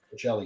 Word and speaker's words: Forcelli: Uh, Forcelli is the right way to say it.